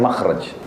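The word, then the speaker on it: مخرج: Inggris kan exit ya bahasa Arabnya itu mim Kha ra Jim bacanya makhraj Kenapa digunakan kalimat itu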